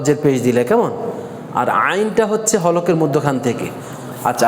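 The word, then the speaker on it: عين: number হচ্ছে আইন আইন আইনের উচ্চারণটা এই হলকের মধ্যখান থেকে কোন জায়গা থেকে হলকের মধ্যখান থেকে হলকের মধ্যখান মধ্যখান এই হলকের মধ্যখানে এখানে একটু প্রেসার দিতে হবে সেক্ষেত্রে উচ্চারণটা হবে আ কি হবে আইন আইন আইন আইন আইন তাহলে বলেন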